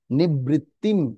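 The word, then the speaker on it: নিবৃত্তিং: নিবৃত্তিম। অনুস্কার উচ্চারণ কি হবে? ম উচ্চারণ হবে। অনুস্বার থাকলে ম উচ্চারণ হবে।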